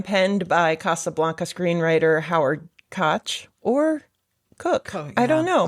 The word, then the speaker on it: Koch: The CBS program, penned by Casablanca screenwriter Howard Koch, or Cook. I don't know because I apparently mispronounced it last week. Yeah, apparently the astronaut's name is Cook, even though it's spelled Koch.